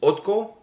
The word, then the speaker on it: ODDKO: But anyways, the name of the band, I believe, is pronounced ODDKO.